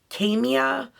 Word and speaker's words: Kaima: I believe the brand is pronounced Camia Cosmetics.